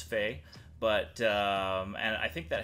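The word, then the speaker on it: Phe: But it's spelled P-H-E, back to our spelling lessons. And I'm pretty sure it's Fee.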